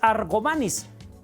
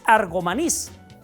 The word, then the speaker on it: Argomaniz: de querétar unero 70 en ningún momento lleva acento en la De tal suerte que la pronunciación no es argomaniz es argomaniz ahora cuál era su nombre